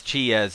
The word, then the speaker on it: ち: down like this Qi as Chia's in cheetah handkerchief cheese in fact the key